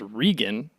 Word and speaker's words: Regan: Like my last name's Regan, Regan, but it's constantly pronounced Reagan.